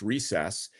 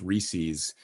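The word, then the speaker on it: Reses: If you, that's how his name is pronounced, Recess.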